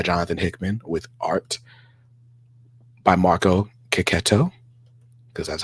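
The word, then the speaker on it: Marco Checchetto: be written by Jonathan Hickman with art by Marco ketto because that's how you say his name and not chetto even though I always say chetto um John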